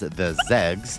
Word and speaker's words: XEGS: Atari XE gaming system shortened to xegs and personally pronounced as the zegs is technically atari's thirdd